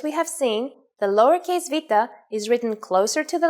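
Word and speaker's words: βήτα: Its name is Vita. In English, it is commonly called beta, but in fact, this letter has a V sound.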